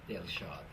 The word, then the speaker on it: Delshad: First, let me pronounce her name properly. Jimmy Delshad.